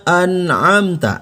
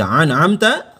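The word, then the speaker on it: أنعمت: alpon Levina an'amta alaihim Bukan dibaca an'amta melainkan an amta alaihim baik kita langsung masuk ke pembahasan alaihim ya Jangan dibaca jangan dibaca eh alaihim masih ada yang baca sirotol ladzina an'amta alaihim yang Betulnya adalah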